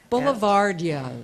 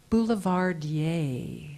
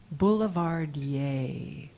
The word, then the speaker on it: boulevardier: Kiefer, and I'd like to correct my previous pronunciation. Boulevardier. Yes. Boulevardier.